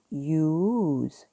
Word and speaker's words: use: 그러면 S가 무슨 소리가 난다? 살짝 지읒 소리가 난다. 그래서 U는 또 E 때문에 장모음이 되니까 use 이렇게 됩니다. use 아니고 너무 use 이러면 이거는 콩글리시 한국식 발음이고 use 흐려주세요.